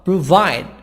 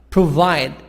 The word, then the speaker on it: provide: 2 hotel improve improve pro pro provide provide the stress on the second word second part why provide a vent event event event so then this is second part exercise number 11.